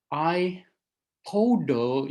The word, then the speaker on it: iPod: Well, iPad really should rhyme with bat, and iPod should rhyme more with pot. And yet it doesn't. It rhymes more with boat when produced in the